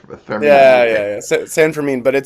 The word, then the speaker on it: San Fermin: Yeah, I yeah, didn't know how to pronounce it. Whether there was a Fermin or a Fermin. yeah, Okay. yeah, yeah. San Fermin, but it's anything you want.